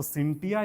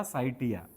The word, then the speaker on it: scientia: से हुई है, तो सिंटिया या साइटिया। इंग्लिश में लिखते हैं SCIENTIA, सिंटिया। क्लियर है। साइटिया भी बोलते हैं इसको, एन टू साइलेंट रहता है, एन टू क्या रहता है, साइलेंट रहता है।